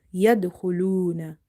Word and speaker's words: yadkhuluna: Yadkhuluna. Yadkhuluna. Kha is from the musta'aliya letters, heavy letters. So you will pronounce it hu, full mouth, hu, luna.